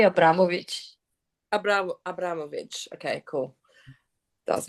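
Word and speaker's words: Abramović: You can just say Abramovich.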